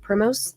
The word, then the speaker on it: Primos: am so bad at pronouncing things OMG okay it's spelled p r i m o Prim Primos Lake in Ranken County where an old May